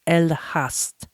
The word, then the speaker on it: Elegast: Dutch in the past, the G is often pronounced as H. So it's the N, the E is an A. So it's El Haas Distillery.